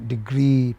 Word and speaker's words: degree: position player agree You All these words, you know, we have which have two e's at the end, like agree, degree, payee. They take main stress on the final syllable, no matter whether they are noun or whatever.